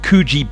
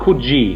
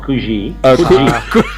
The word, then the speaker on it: Coogee: It's called Coogee, not Coogee. Coogee. He's now pronouncing everything as French because of that correction. There's no French, there's no S in Coogee.